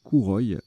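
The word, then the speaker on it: kouroi: Et le pluriel de ce mot, c'est Kouroy, avec un I. Et ça s'écrit aussi avec un K.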